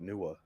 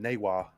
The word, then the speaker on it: Niwa: I say it like Nua. Yeah, that's Okay. that's the canonical way to say it. Is it? Yeah, unfortunate because I called him Nua as well. No, you said Newa.